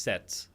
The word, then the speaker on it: Z: In North America, it's like C. And in Europe, it's pronounced set.